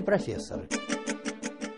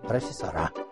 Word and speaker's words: профессора: правильно сказать профессора или профессоры на мой взгляд профессоры звучит солиднее Нет ты вслушайся важные профессора правильно говорить профессора коне надо говорить профессора важные профессора профессора Прошу